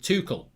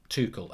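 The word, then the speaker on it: Tuchel: million by the way you pronounce it tukel tukul okay thank you for that because i i i've been doing it french and it's german what time is the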